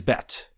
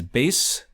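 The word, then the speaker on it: בית: different things and that syllable is BET which means things in English and it means things in Hebrew I'm also going to say it as bass we'll talk about why in a second what is a bet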